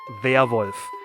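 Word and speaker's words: Werwolf: just a regular werewolf so werewolf in german is also werewolf it you just pronounce this pronounce it via wolf um if you translate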